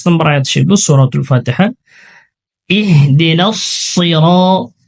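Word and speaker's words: اهدنا الصراط: ইহদিনাস সিরাত, ইহদিনাস সিরাত, এখানে সদ রয়েছে, সদের উচ্চারণ মোটা করতে হয়।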